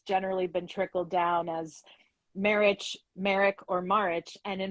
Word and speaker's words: Marich: pronouncing your name correctly is it marriage marriage yes yes so it's interesting and